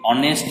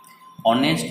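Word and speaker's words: honest: বসানো হয়েছে অনেস্ট ম্যান, অনেস্ট ম্যান, অনেস্ট মানে এইচ ও এন ই এস টি, অনেস্ট মানে হচ্ছে সৎ, তাহলে একজন সৎ মানুষ। তাহলে বানানটা দেখো এইচ দিয়ে শুরু কিন্তু উচ্চারণটা হচ্ছে অ এর মতো, অনেস্ট, অনেস্ট, এই অ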